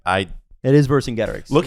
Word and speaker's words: Vercingetorix: It is Vercingetorix. Look how it's spelled, Steven.